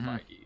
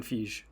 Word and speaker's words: Feige: I mean, this guy gets enough praise, but like the difference between Star Wars and Marvel is Kevin Feige.